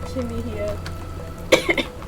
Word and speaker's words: Kimihia: Are they pronouncing his name wrong? Kimihia. Oh no, I am, because I missed the I. Whoops. My bad, Kimihia.